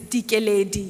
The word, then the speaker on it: Likeleli: This is the only place where I don't have to explain why my name is Dikeledi, even though it's spelled Likeleli.